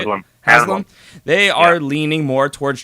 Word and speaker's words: Haslam: However, it seems that the front office and owner, Jimmy, I never remember how to say his name, Haslam, I think is how you say it. Haslam.